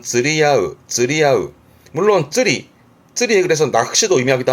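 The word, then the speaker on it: 釣り合う: 발음은 쯔리야으.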